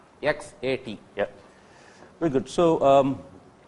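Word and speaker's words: XAT: It is not SAT. SAT X A T.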